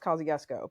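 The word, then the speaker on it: Kosciusko: briefly lived there, and it's named after the like Polish American Revolutionary War general Kosciuszko, but it's pronounced Kosciuszko because of course it is.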